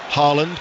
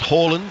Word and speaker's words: Haaland: Manchester City, of course, was called Haaland, but we're told it's pronounced Haaland, just in case you're wondering who we're talking about.